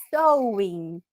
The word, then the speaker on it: sewing: Só que na realidade é sewing. E se escreve com E, S-E-W-I-N-G.